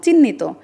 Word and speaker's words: চিহ্ন: আবার যখন ধর অনেকে বলে চিহ্নিত তো বলা যাবে না, চিহ্ন বলতে হবে, কারণ যখনই হ আর ন একসাথে থাকবে তখন NHO উচ্চারণ হবে।